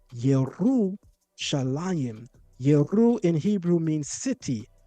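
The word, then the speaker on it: ירושלים: It's not yalam. It's yeru shalim.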